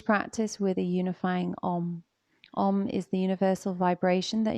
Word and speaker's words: Om: Om is the universal vibration that in yoga we believe connects everybody to everything. Pronunciation is Aum.